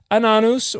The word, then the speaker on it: Ananus: how to pronounce it ananus Ben ananus that's good that's a lot better pronunciation than an anus which is how my brain will only see it